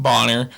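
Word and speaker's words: Stephen Bonnar: say his name Stephen boner uh I'm pretty sure it's pronounced Bonner uh but he's a UFC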